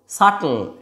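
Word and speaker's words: subtle: ঠিক এরকমই আরেকটা হচ্ছে সাটল। সাটল এসবিটি। এইযেবিটি এটা থাকার ধরুন কি বলছি সাটল সাব এরকম বলছি না জিনিসটা মাথায় রাখতে হবে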